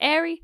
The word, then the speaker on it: Airy: that's how it's pronounced it's spelled a i e but allegedly according to the Internet it's Airy rhymes with stormy stormy only rich people